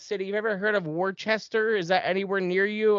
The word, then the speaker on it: Worcester: that anywhere near you i'm like worchester i'm like you mean worcester like and i say worcester you guys say worcester you know so i i still say my r's i just i know how to say the way you guys say it too um but yeah that's